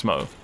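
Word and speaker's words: Smough: for that matter is also SM so it's Smo just thought I'd let you guys know but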